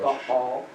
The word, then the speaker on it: Baal: Baal, or Baal, or in Hebrew, Baal. Okay? Would be how you say it.